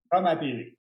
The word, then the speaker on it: Comme à TV: Non pas Coma TV. On n'est pas dans le coma à TV. C'est comme à TV. Coma TV. Ah, ok, c'est comme ça que tu le prononces. Comme Coma c'est TV. comme à radio, comme au théâtre, Ah, comme au ok, cinéma.